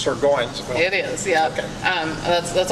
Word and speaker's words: Surgoinsville: When I first moved here, Surgeonsville, Yeah. and I was corrected. No, it's Surgoinsville.